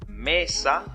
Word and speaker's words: mesa: La palabra mesa, la sílaba tónica es me, pero no tiene tilde. Su acento es prosódico.